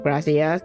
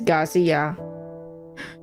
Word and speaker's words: Garcia: It's not Gracia. It's Garcia.